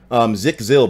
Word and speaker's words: Zikzil: The name's pronounced Zikzil, by the way. Zikzil?